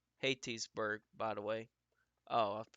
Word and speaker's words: Hattiesburg: Hattiesburg is pronounced Hattiesburg, by the way.